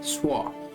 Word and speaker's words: schwa: this often pronoun is a schwa s-c-h-w-a swa so in this reform there are many types